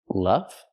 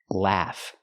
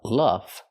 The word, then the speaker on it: laugh: The word is pronounced laugh. We have to use the short a sound like black cat, laugh. Not the short sound like cup and up, luff, but the sound a, laugh.